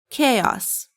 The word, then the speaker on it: chaos: How do you pronounce it? It's chaos.